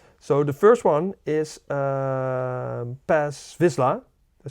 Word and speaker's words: Paz Vizsla: So the first one is Paz Vizsla. Did I say it right? Yeah, Paz Vizsla.